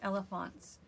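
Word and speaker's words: Elefantz: think you pronounce it elephants um so it's a blog it's jennifer reynolds and this is her blog it's like elephants but it's e l e f a n t z so i'll put that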